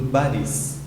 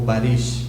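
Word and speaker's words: Barış: do Asli e do Baris, ou Barish, como eles falam na pronúncia correta deles.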